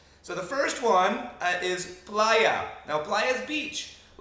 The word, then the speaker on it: playa: Playa. Okay, that's with an A. Safe, no problem. However, if you mispronounce it and you call it playo, you are now calling something homosexual in a derogatory term.